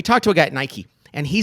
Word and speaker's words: Nike: And it's a company that rhymes with the word or pike, but and you know, and they make shoes and apparel. So, we talked to a guy at Nike and he said, "Oh